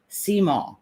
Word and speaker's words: Simon: So Simon down in South Louisiana is pronounced Seymour.